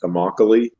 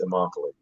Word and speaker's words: Immokalee: in um in florida i think it's pronounced immokalee she remember she told me it sounds like broccoli but it's immokalee and it's based on